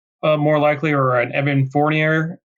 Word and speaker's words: Fournier: So maybe that's a little more likely, or an Evan Fournier. How do you say it? Fournier? And Fournier. There we go.